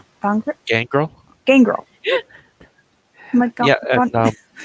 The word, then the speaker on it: Gangrel: and I'm thinking I like the is it pronounced Gondrel? Gangrel? Gangrel.